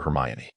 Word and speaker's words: Hermione: It's Heriane. She slowed her speech, clearly demonstrating her. Crumb attempted to articulate the name. It seemed as though he was adding a vague inoring sound after Hermione. No, it's Hermione. She corrected, clearly annunciating once more.